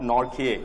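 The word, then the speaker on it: Nortje: and you will have not North here actually that's how it's pronounced and Rick knock here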